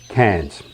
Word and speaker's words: Cairns: upstream then to cannes cans is primarily the reef part of any reef and rainforest combination with coranda and the danetry naturally being the rainforest part remember written like this but pronounced cans here you can snorkel